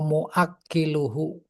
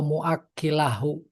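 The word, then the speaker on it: موكله: wa muakkiluhu wa katibuh. Oh, jadinya bacanya wa muakkilahu wa katibahu wa syahidaihi waqala hum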